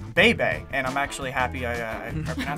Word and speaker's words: Bebe: It's pronounced Bebe, and I'm actually happy I pronounced it right.